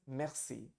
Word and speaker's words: merci: The pronunciation is merci. And if you have to say thank you very much, you would say merci beaucoup.